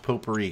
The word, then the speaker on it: potpourri: It's pronounced potpourri, guys. Come on.